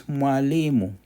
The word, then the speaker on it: mwalimu: MWA, mwa, mwe, mwi, mo, muo. An example of that is a teacher, which is mwalimu.